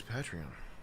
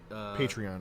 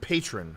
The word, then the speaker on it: Patreon: I call it the wrong I call it I sound like I just criticized you and I say it wrong because it's patron.